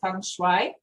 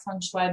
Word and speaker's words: feng shui: many different how do you pronounce it i pronounce it feng shui but no i have a little bit of